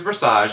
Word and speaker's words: Versage: my drag character is versage and that's pronounced like massage but with a ver and I really didn't start developing versage until I hit Atlanta